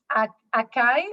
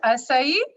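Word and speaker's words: açaí: So acai, we don't pronounce it acai, but acai.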